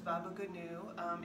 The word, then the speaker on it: baba ganoush: Today we're going to do a simple dish called baba ganoush, otherwise pronounced as baba ganu.